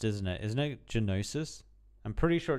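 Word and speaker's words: Gnosis: I notice I keep calling him Nosis, but the G is actually pronounced, isn't it? Isn't it Genosis? I'm pretty sure it's Genosis.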